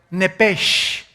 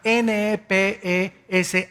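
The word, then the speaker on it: nepesh: palabra alma es la palabra hebrea nepes así como suena n e p e s h nepes la palabra la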